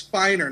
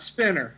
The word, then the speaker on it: Spiner: uh which was funny make sure you pronounce his name right okay it's it's Spiner not spinner okay that's a funny story